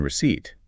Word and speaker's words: receipt: They need to feel what it's like to skip the silent P in receipt.